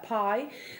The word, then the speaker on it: bi: ritual object called uh piie that's spelled bi by the way um the uh yeah